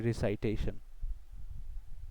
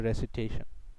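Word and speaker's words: recitation: তেলাওয়াত এর ইংলিশ হচ্ছে রেসিটেশন বা আমরা সাধারণত উচ্চারণ করি রিসাইটেশন। বেটার উচ্চারণ হচ্ছে রেসিটেশন।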